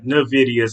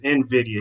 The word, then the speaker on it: Nvidia: it I'm sorry Invidia I said it wrong not not Nidia Nvidia here I go again